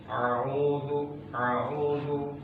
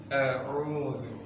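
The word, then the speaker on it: أَعُوذُ: A'udzu dua-duanya dibaca dengan sama seperti ain, itu sudah salah. Dia harus diucapkan dengan syiddah, dengan kuat. A'udzu ya.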